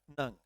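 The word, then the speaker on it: ङ: इसे बेसिकली हम सरकारी स्कूल के विद्यार्थी अणे खाली बोलते थे, लेकिन जब आगे पढ़े तो पता चला इसका उच्चारण होता है आधा न और ग की अंक का उच्चारण कहाँ से होता है? आधा न और ग की तरह से, सॉरी, आधा न और ग की तरह। तो इसका उच्चारण क्या होगा? नंग।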